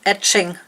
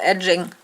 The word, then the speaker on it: etching: see or remember that it's pronounced etching, not edging. Etching, because it's etched.